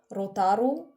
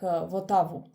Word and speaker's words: Rotaru: When I was little, I could not pronounce the letter R, and there were two R's in my name, Rotaru, and I was saying like Votavu.